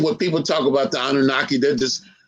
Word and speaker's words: Anunnaki: And I don't know how to pronounce this word. Is it Anukai? Anukai? Anunnaki.